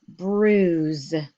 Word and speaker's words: bruise: going to look at words that have a UI in the middle of them and they're going to say oo so here's the first word bruise bruise so bruise is